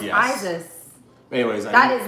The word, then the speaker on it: Isis: It's not Isaiah. It's S-I-S. Someone said S-I-S. Pronounce Isis.